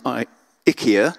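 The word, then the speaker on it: IKEA: in CD Towers from I ikia as I think you're meant to pronounce it which I don't think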